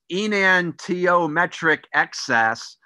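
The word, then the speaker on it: enantiomeric excess: Now, the one that I've arrowed, and it's pronounced enantiometric excess, what that means, and my astrobiology expert that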